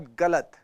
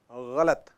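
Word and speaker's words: ग़लत: नहीं बेटा, उर्दू का प्रोनाउंसिएशन अलग हो जाता है। कातिल, इट्स नॉट कातिल, इट्स कातिल। गलत, इट्स नॉट गलत, इट्स गलत।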